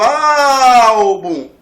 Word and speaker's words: álbum: Na palavra álbum, a sílaba tônica é o álbum. Você diz, olha o álbum!